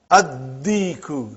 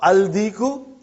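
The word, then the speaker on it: الديك: Addiku, not aldiku.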